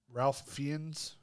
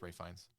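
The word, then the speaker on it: Ralph Fiennes: Ralph Fian, but it's pronounced Ray Fines.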